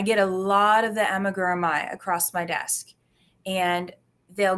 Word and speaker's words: amigurumi: Is it origami? Aragum. Now you're gonna make Oh me no, miss. now oh no. Amigurumi. Amigurumi is how I was taught to pronounce it.